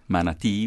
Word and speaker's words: manatee: Manatee would be another... Manatee. No accent mark there, but you're emphasizing the last syllable.